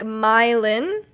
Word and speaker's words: Milan: There's also a Milan in Missouri. They pronounce it like Mylin.